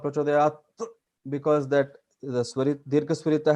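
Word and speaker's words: प्रचोदयात्: So the common way is Prachodayat. So halant, that the last syllable is it. It is not tha, it is Prachodayat it.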